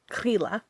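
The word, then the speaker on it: Grýla: Oh, that's Grilla's house. Don't worry, my neighbor's just Grilla. It's just Grilla. That's Grilla. fine. Yeah, Grilla. Grilla. Like green la.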